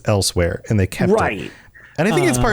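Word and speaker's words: Elsweyr: Well, Elsewhere has kind of a unique spelling for something that you pronounce as elsewhere, and they kept it.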